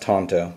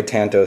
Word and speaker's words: tanto: Somebody's at home going, it's pronounced Tanto, but I like the way Tanto sounds better, so there you have it.